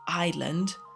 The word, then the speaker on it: island: this is pronounced and you say island. Well, there's an S here. Why there's an S? Why? Sorry. Um rage. Uh pure rage because I remember uh studying English in school and and I didn't understand like why why why there's a letter there. No one is pronouncing it, but there's a letter